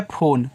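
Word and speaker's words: phone: था ये लिखा है फोन फोन एक इंग्लिश वर्ड है तो पी एच से आप फ करें ओ से ओ की मात्रा केवल एन तक प्रोनाउंसिएशन करना क्योंकि इ का प्रोनाउंसिएशन नहीं होता ए आपका साइलेंट होता है ठीक है आपका फोन हो जाएगा लास्ट में अगर अगर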